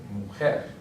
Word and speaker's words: mujer: It's not an N or an S, so therefore it's going to be a palabra aguda, and the stress is going to be on the last syllable. So right here, mujer.